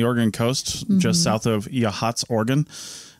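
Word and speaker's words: Yachats: coast just south of yhats Oregon spelled yit if you're trying to find it on a map it does not look like it should be pronounced that way right uh we're going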